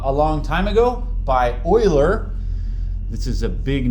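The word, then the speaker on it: Euler: It's not uler. Don't say Uler. Ule sound foolish. If you say Uler is a German name, so it's pronounced Oiler.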